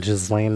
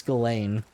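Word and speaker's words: Ghislaine: going to freaking pardon Jizlane Maxwell or however you pronounce. I I believe it's Galain. Yeah, I've heard it pronounced Jizlane from all the time the internet today, guys.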